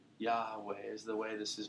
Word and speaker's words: Yahweh: Some people say Yahe, right? Yahweh is the way this is pronounced. This Y h wah. Say that. Yah. It's got a breathiness to it, doesn't it?